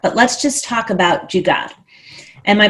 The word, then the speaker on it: jugaad: questions in there but let's just talk about jugaad am i pronouncing it correctly yeah yeah okay so when